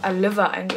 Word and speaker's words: Aileva: Und übrigens, Leute, die wird einfach Aileva ausgesprochen. Ich wusste das gar nicht.